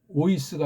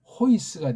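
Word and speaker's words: οἷς: 지금 이거는 모자를 거꾸로 썼으니까 오이스가 아니고 호이스가 되죠.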